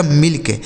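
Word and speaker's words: milk: आगे एम आई एल के एम से हो गया दोस्तों म। उसके बाद आई से छोटी इ की मात्रा। एल से आधा ल और के से क। इसे पढ़ा जाएगा मिल्क। एम आई एल के मिल्क। तो देख रहे हैं ना कि जब जब भी दो व्यंजन के बीच में आई लिखा रहेगा तो उस आई का उच्चारण हमें छोटी इ की मात्रा करना है।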